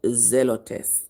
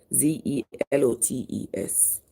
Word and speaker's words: Zelotes: James the son of alus and Simon called zelotes that's pronounce it z e l o t e s called zelotes but here is lebius whose surname